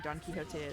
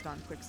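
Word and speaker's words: Don Quixote: like a whole um academic uh debate around um pronouncing Don Kiote as Don Quicks.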